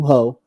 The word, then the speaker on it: Hoh: yeah yeah and um your last name is pronounced ho right yeah yeah yeah catch you